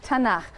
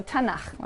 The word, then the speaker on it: Tanakh: Tanakh, which is really the letters T, N, and Ch. And they put little A's in there to make it easy to pronounce, because it's hard to pronounce. So Tanakh, okay?